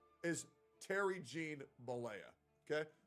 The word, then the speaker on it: Bollea: That I did not say is Terry Jean Bollea. Okay? Bollea, that's how you say it. And Terry it's the Bollea.